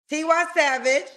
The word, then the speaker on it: Tiwa Savage: like T how you say her name again tiwa Savage tiwa Savage um but have a a holy Mary Vibe